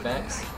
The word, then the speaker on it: vexe: Xbox, which is illuminant vexe. The E is silent.